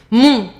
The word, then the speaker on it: mon: Mon, ton, son, very nasal.